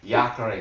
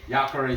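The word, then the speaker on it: Jacaré: either okay let's see jacare that means alligator in portuguese alligator giacare yatore i think the j is silent so yakare souza um okay let's go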